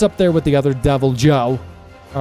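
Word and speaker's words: Deviljho: Devil Joe. I thought the J was silent. Bro, I'm probably pronouncing all these wrongs. Devil Joe.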